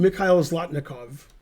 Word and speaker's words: Mikhail Zlotnikov: Mikhail Zlotnikov.